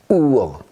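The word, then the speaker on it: Uhr: 우어. 이거 어디 갔습니까? 왜 우흐르가 아니라 우어가 됩니까? 이 하는요, 모음 뒤에 나왔을 때는 묵음 처리가 됩니다.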